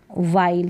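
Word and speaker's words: while: इसको वाइल पढ़ेंगे, वाइल, ल तक उच्चारण हो रहा है। ये जो ई है ना, ये भी साइलेंट है, इसमें इसका भी उच्चारण नहीं हो रहा, हम वाइल ही करके इसको प्रोनाउंस नहीं कर रहे हैं।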